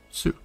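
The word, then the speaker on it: す: loop because a kid flew off of it pronounced sue next up is the fancy bird again that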